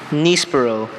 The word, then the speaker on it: nispero: Nispero. N-I-S-P-E-R-O. Nispero. That is correct. Yes! Great recovery. You could hear his first pronunciation.